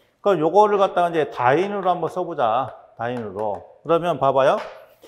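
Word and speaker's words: dyne: 9.8 곱하기 10의 5승에 D, Y, N, E 이렇게 썼는데 요걸 갖다 우리가 읽을 때는 자, 다인이라고 읽습니다. 다인.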